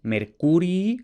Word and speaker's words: Mercurii: Y ahora una pequeña aclaración sobre esto de Mercurii con dos i's y con el acento en la U o Mercury con una sola i y el acento en la e.